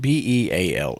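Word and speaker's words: Beale: And one is called The Pig on Beal. And it's spelled B E A L E.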